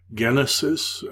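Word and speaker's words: γένεσις: in English from this Genesis notice it's a hard G of course it gives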